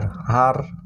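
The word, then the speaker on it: her: এখানে দেখো ই আর, তারপরে ই আর, ই আর, ই আর, এইচ ই আর, হার, ঠিক আছে?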